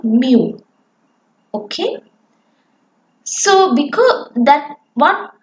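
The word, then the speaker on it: μ: symmetrical and bell-shaped and it has a mean pronounced as mu the area under the curve totals exactly one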